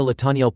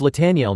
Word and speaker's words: Lataniel: Latan. She noticed he pronounced her name wrong, but didn't bother correcting him harshly. It's<unk> Lataniel, not L, but call me whatever you like.